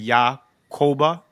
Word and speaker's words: Yakoba: any Israeli they'll pronounce it yah koba you know anyway slave